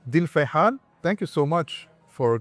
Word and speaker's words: Fuleihan: We can start with, you pronounced my name and the way it is pronounced in Lebanon. And we're here, it's Fuleihan.